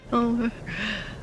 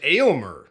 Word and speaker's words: Aylmer: Elmer. Elmer. Elmer? I thought it was Aylmer. Not Elmer. Aylmer.